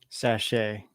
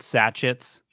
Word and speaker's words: sachet: Sachet. Yeah, sachet. They're called sachet. Yeah. Not sachets.